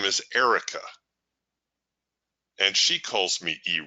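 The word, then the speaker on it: Erich: may not know Eric my version of Eric is spelled with an H on the end it's a German spelling my my parents were German and but it's pronounced Eric Eric's one of those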